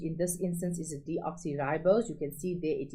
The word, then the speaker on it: deoxyribose: from, pentose, okay, and its name is deoxyribose. You need to know that, not deoxybose. Sometimes learners leave out the RI, or sometimes they leave out the O. Okay, you please spell it correctly. It is deoxyribose.